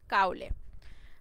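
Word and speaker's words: Cowley: Who's কাউলে, কাউলে কে ছিলেন বা কাউলি কে ছিলেন, কাউলি না কাউলে এটাই বলো। তো ওনার পুরো নামটা হলো আব্রাহাম কাউলে। ওকে, বা কাউলি দুইভাবে উচ্চারণ করে।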